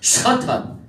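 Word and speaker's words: שטן: 1절에 사탄, 우리말로 사탄인데 히브리어로 샤탄이에요. 샤탄.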